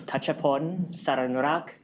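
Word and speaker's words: Thatchaphol Saranurak: Um my name is Tatapon. Sarinurak uh is this is how it's pronounced but whatever you pronounce I don't mind.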